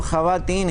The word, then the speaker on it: ख्वातीन: ख्वातीन जो है ना यह प्लस फारसी का नहीं है अगर फांसी का होता तो हंड्रेड परसेंट इसमें वास साइलेंट होता यह तर्क कि सलमान का लफ्ज़ है हाथ उनके जमा है इसीलिए हम इसको ख्वातीन ही पढेंगे यह 13 के तरह